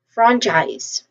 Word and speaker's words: franchise: And among the two the first syllable is our primary stress. So franchise again franchise. One more time. Franchise.